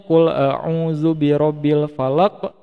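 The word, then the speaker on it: قُلْ أَعُوذُ بِرَبِّ الْفَلَقِ: pendek di panjangin nih contoh yang cool a'udzu full full itu kan pendek ya Nah ada diantara adik-adik yang bacanya itu Woi nakalnya itu dipanjangin terus di akhir ahay diakhir hayatnya nih kan seharusnya kulauzubirobilfalaq nah kayak gitu kan Nah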